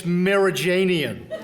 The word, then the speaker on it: Merijanian: It's Merijanian. Who on earth could get that wrong, George? It's right. It's pronounced just the way it's spelled, Merijanian. It's phonetic.